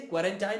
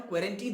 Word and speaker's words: quarantine: अब देखो, home क्वारंटीन अलग है और सही से क्वारंटाइन और क्वारंटीन दोनों यूज कर सकते हैं आप।